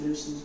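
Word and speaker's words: Leveson: They were the Lucens, the Leasons, pronounced Lucens back then.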